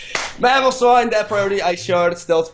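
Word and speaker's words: Mamoswine: Come to Papa Mamos Mamos. I pronounced that wrong. Mamosine that priority ice shard stealth fox setter.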